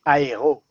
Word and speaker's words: Aero: Freddie's rocking the Aero bar. You have an Aero bar, Fred? What's going on? How you pronounce it? Aero. How you pronounce it? Because as a Frenchman, I'll say aéro, but oh yeah.